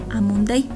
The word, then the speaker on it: Amuntay: Sin embargo, su pronunciación suena como Amunday, dado que en shuar no existen las letras D y T, siendo lo más parecido.